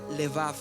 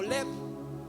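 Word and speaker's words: לבב: la palabra hebrea que utilizaban era la palabra levav Cómo se dice o leev y una de las cosas que quería decir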